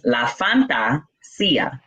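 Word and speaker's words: La Fantasía: It's La Fantasia in Spanish. It's fantasy, but in Spanish.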